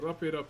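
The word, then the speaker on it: Rape: How this design is spelled in my native language is R A P E. R A P E. So don't get it twisted with the English language.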